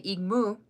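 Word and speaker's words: igmú: Oh, so cat in Lakota is egmoo. So, if you spell it out, it' be I g mu. You say igmoo.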